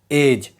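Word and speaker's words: edge: देखो अगर डी के बाद जी आए तो डी साइलेंट रहता है। एग्जांपल वैज जिसका मतलब होता है प्रतीक। एज जिसका मतलब होता है किनारा। इन दोनों वर्ड में देखोगे डी के बाद जी आया है। इसीलिए डी साइलेंट है।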